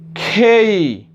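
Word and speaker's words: K: এরপরে এটাও একটা প্রবলেম লেটার। এটাও আমরা সচরাচর যেটা উচ্চারণ করে থাকি কে উচ্চারণ করে থাকি, কিন্তু কে উচ্চারণ আর করব না। তাহলে কে উচ্চারণ করবে সেটাই আমরা দেখে নেব এবার। কে উচ্চারণ করব না আর, তাহলে উচ্চারণটা হবে খেই, খেই, খেই, খেই।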